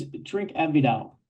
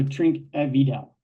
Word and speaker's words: Trinquevedel: or there in Los Angeles how do we pronounce the name of our Tel producer today it's drink aidel so drink aidel and we're tasting the 2021 which uh as